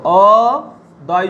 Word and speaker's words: অদ্য: যেমন দেখো, উদাহরণ দেখো, অদ্য, অ দয় জফলা, দেখো এটা শব্দের শেষে জফলা আছে, তাহলে তার উচ্চারণ কি হবে? অদ্য, দুটো দ হচ্ছে, দেখো অদ্য।